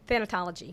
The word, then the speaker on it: thanatology: Actually, I just came back from my annual conference with Say the word for me. Thanatology. Thanatology. Thanatology is the study of death, dying, and bereavement.